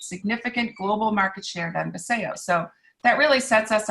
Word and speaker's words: Vasayo: So can you tell us a little bit about the company and what Vasayo, is that how it's Vasayo. Vasayo is how it's pronounced.